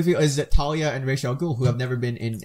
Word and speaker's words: Ra's al Ghul: It's Ra's al Ghul. I've heard. I've also heard it say Raz al Ghul.